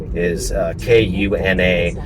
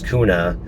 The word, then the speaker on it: Kuna: Another one that comes up often is K-U-N-A. So a lot of people think it's Kuna.